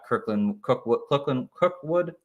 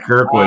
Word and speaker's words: Kirkwood: Perry, Lynn Bowden, Cookwood. I think that's how you say his name. Yeah. Whatever his name is. Keith Kirkwood. Keith Cookwood. Thank you. Keith Kirkwood.